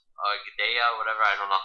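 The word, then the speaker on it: Gadelha: I didn't think she beat Claudia Gadella. Gadea, whatever, I don't know how to say it correctly. You said it the first time, right, Gadella?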